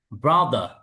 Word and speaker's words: ব্রাদার: দ sound বলি এরপরে আ লাস্টের রটা উচ্চারণ হবে না ব্রিটিশ ইংলিশে ব্রাদার ব্রাদার আমেরিকান আবার রটা বলবে ব্রাদার ব্রাদার এরপরে ফ